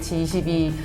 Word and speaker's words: H22: 뭐 H22, H22 읽는 방식은 히라고 읽는데요.